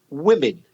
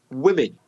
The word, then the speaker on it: women: singular woman woman plural women women if you imagine many many different women swimming you can have the sounds very very similar swimming and women is similar vowel sounds so yeah they're swimming